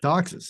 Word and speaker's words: Doxas: And Jim Doxas. Jim Doxas. Doxas. Okay, that one's exactly how it sounds.